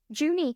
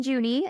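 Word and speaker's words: Junee: how to pronounce this place I've been saying juny New South Wales um but let me double check that that pronunciation is correct before I juny ha okay then we're fine um so it's located in juny New South Wales and it is widely regarded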